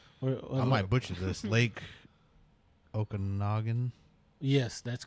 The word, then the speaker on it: Okanagan: Now I might be pronouncing it wrong, so you might Ogopogo. Yeah, I might butcher this. Lake Okanagan.